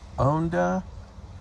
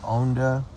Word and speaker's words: Honda: thank you okay I'm at the Bahia Honda State Park um it's in the Florida Keys and the name is Bahia h-o-n-d-a most people say Honda but it's officially pronounced owned us so it's Bahia owneda State Park and so I'm just relaxing on